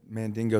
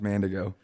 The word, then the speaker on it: Mandigo: you i gotta i gotta say i've been mandingo since i was a kid it's actually pronounced mandigo amanda go you're the first person just so